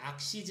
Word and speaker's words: Axis: 액시스 (Axis) 는 액시스 라고 읽습니다 .